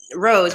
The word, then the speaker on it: Roz: Hi, I go by Rose, actually. Rose, I pronounce it Rose, but it's spelled as Roz.